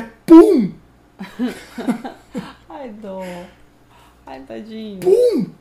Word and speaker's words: Pum: Que o nome dele, meus queridos, é Pum. Ai, dó. Ai, tadinho. Pum. P-U-M. É com M ainda. Pum. Então Pum. É Pum. Pum. Não, não. A pronúncia é Pum.